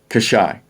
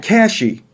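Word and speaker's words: Cashie: our next one no here's how it is kashai the koshai river not kashi but the kashai here's a community in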